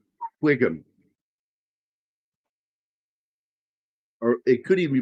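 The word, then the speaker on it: Whigham: And he's got one of those weird last names where he has a WH and a GH in it, which makes it Wiggum.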